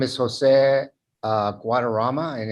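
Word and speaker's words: Guadarrama: please state your name for the record and spell it for the court reporter uh my name is jose guadarama and it's j-o-s-e guadarama is g-u-a-d e-r-r-a-m-a thank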